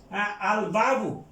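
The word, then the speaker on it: الباب: আর ওইদিকে যান, ওইদিকে আমাদের যেমন আল বাবু, হ্যাঁ, আল বাবু, আলের উচ্চারণ হচ্ছে আল বাবু, তাইলে এখানে যে বাটা, এটা চন্দ্রাক্ষর, হুরুফের এটা কামারিয়া।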